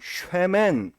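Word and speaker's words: שמן: 네, 이름하고 기름하고 비슷한데 히브리어도 역시 비슷해서 히브리어로 이름은 쉔이라고 하고요. 그리고 기름은 쉐멘, 이렇게 발음을 합니다.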